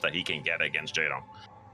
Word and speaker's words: Jaedong: Yeah, Lee Jaydong his name and literally using that as his ID. So, his middle and last names. And I love that Dong rhymes with Wong, by the way.